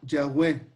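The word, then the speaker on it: Yahweh: ha incluido algunas vocales se pronuncia ya web así es como se pronuncian en hebreo chávez en inglés dicen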